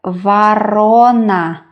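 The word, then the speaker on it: ворона: V. O. R. O. N. A. The middle syllable is stressed. That is why we pronounce not vorona, but varona. Varona.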